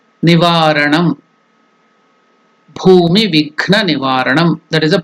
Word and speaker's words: Bhumi: The pronunciation is Ba is Mahaprana, not Bhu, it is Bhu, Mahaprana. Bhumi. Then Vighna. Ghna is also Mahaprana. Vighna. Nivaranam. Bhumi Vighna Nivaranam.